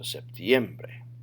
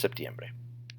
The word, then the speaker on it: septiembre: Or if it's a vowel, like bre, then your voice always goes up in the next to last syllable of a word. So septiembre. Otherwise, it could be septiembre, septiembre, septiembre, like it should, or septiembre, but it's septiembre.